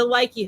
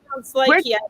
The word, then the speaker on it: Lykke: It's a Likey hook. Likey. Do you spell that Lykke? Yes. Yes. Awesome. Yeah. Likey. I looked up a couple of different videos about it, and that's how people were pronouncing it.